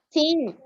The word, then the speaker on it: sing: We pronounce only like this. Sing. Sing. G silent. Remember, G silent. Remember very well. G silent.